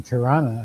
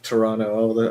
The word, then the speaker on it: Tirana: And of course, in Tirana, I guess he meets those Albanians, and they think that's the greatest thing ever.